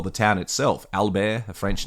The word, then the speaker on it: Albert: australians just abbreviated and they just called it burt so that suggested to me that they were calling it albert not albert so i love the